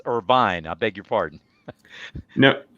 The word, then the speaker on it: Irvine: california at irvine.edu and i pronounced it irvine it's irvine i beg your pardon